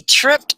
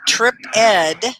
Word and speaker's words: tripped: call oh no he tripped on a phone cord so once again it's tripped it's not trip ed okay so let's say